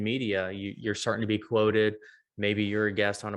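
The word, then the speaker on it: Qwoted: is there's another service called quoted which is spelled q-w-o-t-e-d quoted so those are two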